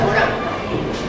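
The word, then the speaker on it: Morin: Se escribe Morín, pero se pronuncia Morán.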